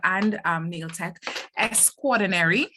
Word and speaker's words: Nail Tech Extraordinary: She has her school, which is called Nail Tech Extraordinary. Is that it? Am I saying it correctly, Miss Maloney? Yes, you're saying it perfectly.